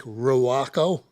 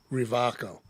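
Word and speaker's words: Rewaco: that thing the Raco it's spelled the way it's spelled looks like rako right cuz it's a w but it's it's uh sounded as Revo it's a german-made uh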